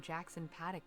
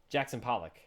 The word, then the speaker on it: Jackson Pollock: I've jackon Paddock painting Jackson Paddock that's not how it's pronounced right I thought it was Jason Pollock or something Jackson Pollock yeah okay I think they